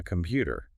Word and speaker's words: computer: A computer. And again, that tan might sound like a D.